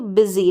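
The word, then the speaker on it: busy: में आया था तो बिजी, लास्ट में ई करके इसका उच्चारण होता है। जब वाई आता है तो बिजी हो गया, क्या है? बिजी, ई, यानी यू का उच्चारण ई है इस बिजी में।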